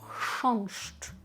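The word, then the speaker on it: chrząszcz: Воно в принципі складне навіть для поляків, тому що ми маємо х, а далі маємо ш. І насправді навіть для простого поляка це вимовити достатньо складно, тому що напружується мовний апарат в нього теж, не лише в нас. Х і ч оце поєднання одне за другим.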